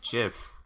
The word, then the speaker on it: GIF: a j x dot gif pronounced jiff and it's just someone